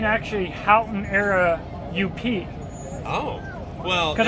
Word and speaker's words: Houghton: I told him to make a shirt of that. And, you know, I'm Michigan, so I don't even pronounce the T. It's just Houghton. Houghton.